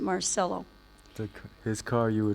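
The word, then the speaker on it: Marcello: Carlos mark celo or some call him marello because they didn't know that he pronounced it Marcelo the his car you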